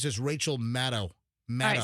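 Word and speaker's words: Maddow: I didn't know that I mispronounced it. You did. It's Rachel. It's Rachel Maddo. Maddo. A lot of people say Matto. I believe it's just Rachel Maddo.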